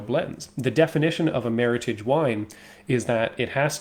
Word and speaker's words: Meritage: you can't call it Meritage. It's not French. It's American. It's extremely North American. So you have to say it with that hard G, Meritage.